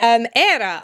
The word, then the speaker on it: Éire: Éire, Ireland, the name of the country. Ireland has a fada. I believe Éire is the pronunciation.